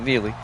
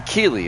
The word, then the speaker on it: Keeley: warning yet Jameson key I said Neely Jameson Keeley is his name with a K make sure I pronounced